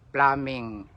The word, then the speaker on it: plumbing: Ang talagang pronunciation niyan ah plumbing. Pluming A.